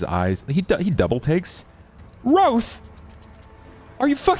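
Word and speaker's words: Wroathe: Her name is Roth. W R O A T H E. Roth.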